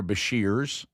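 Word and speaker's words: Beshear: So I would go back to Governor Basher's or Basher uh is how you say his name and I would say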